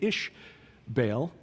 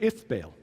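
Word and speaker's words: Ishbaal: was a man named ish baal and uh or if baal same thing just different pronunciation the uh phoenician said if where the israelites said ish means same thing son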